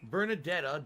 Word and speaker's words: Bernadetta: Maybe Bernadetta, because Bernadetta. The emphasis is on the first syllable.